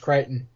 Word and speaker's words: Crichton: I've always heard it said Crichton, but the spelling of his surname is Crichton, isn't it? It is, but you're right, it is pronounced Crichton.